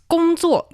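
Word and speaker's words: 工作: Um, it's gōngzuò. Gōngzuò. Gōngzuò. And when it comes to job hunting, which is the season of job hunting for many, many graduates around the world, it's zhǎo gōngzuò.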